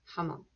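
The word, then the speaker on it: jamón: him repeating that um j sounds like an h repeat in jamon hamon in spanish they say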